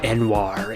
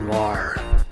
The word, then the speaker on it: Noir: early arrived too late pronounced my name Anwar instead of Noir said that his greatest